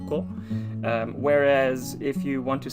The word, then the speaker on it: 子: that feature this kanji so the kanji by itself is just pronounced as ko whereas if you want